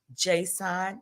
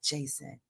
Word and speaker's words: J'Son: his name Jon hunt Jon hunt apostrophe s o n Jon not Jason Jon say his name